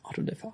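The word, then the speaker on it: auto-da-fé: How do you pronounce it? Auto de fe. Auto de fe.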